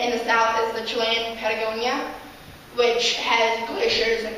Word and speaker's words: Chile: Okay, so I'll be living in Chile, or as Americans say, Chile, for 10 to 11 months, leaving in August 9th.